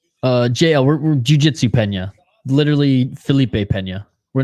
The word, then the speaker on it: Peña: jail we're Jiu Jitsu Pena literally Felipe Pena we're not talking about your girl uh whenever people say Pena instead of Pena pronounce it like John pronounce it like John Cena I'm picking Craig Jones